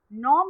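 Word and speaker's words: gnaw: repeat the words not no means to bite or to cut here in this word g is silent students so as we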